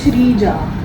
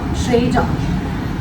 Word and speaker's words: Shreya: So most of them, like, they are not able to pronounce or, they usually write SHREJA or SHREEJA and That becomes Shrija. yeah, and that's not. It's a very simple name. SHREY Shreya Shreya.